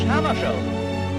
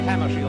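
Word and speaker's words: Hammarskjöld: pronounce his name quickly well i pronounced myself in swedish hammer show but if you say hammer shield that's all right foreign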